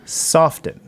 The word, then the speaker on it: soften: for single-family homes should soften. Do you pronounce the T in that word?